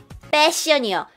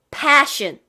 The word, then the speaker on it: passion: 패션 아니고, 자, P 발음을 하셔야 돼요. P, 푸 아니고 P, passion. 그거는 여러분이 옷 스타일의 fashion과 달라요. fashion. 그 다음에 fashion은 그냥 우리가 말하는 스타일 패션이고요. passion. 이거는 P 발음이 정확하게 나야 되죠.